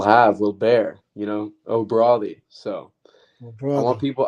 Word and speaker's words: O'Bradaigh: will bear you know o broi so I want people I want people to learn how to pronounce my last name that's just just say it like Mayweather exactly easy exactly well